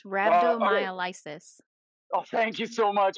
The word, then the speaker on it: rhabdomyolysis: It's rhabdomyolysis. Oh, thank you so much. I was trying to remember how to pronounce that.